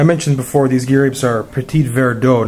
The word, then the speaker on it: Petit Verdot: before these gears are Petit Verdot not petite where do sorry my pronunciation wasn't